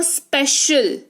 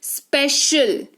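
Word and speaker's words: special: यहां पर देखो स्पेशल, यहां पर देखो सी का उच्चारण कैसे हो रहा है? तालव्य श, स्पेशल।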